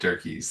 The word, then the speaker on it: Dierkes: Durkis, how do you say your last name? I say it Derkys.